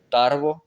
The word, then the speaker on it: Tarbes: Et Bayuno, Bayonne, Tarbes, sans S.